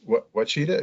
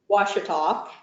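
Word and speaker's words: Ouachita: And the university, which is very important in your childhood and through college, Wachita, is that, did I pronounce it correctly? Washita, and it was Washita University.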